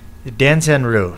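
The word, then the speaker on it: Danzan-ryu: How do you pronounce that? Danzanru, yes.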